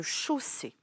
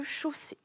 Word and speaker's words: chausser: la même famille que chausser. C'est un verbe sous sa forme infinitive. Je te l'écris. Chausser. Il se termine par ER puisque c'est la forme infinitive. Attention, ici, le phonème O s'écrit AU.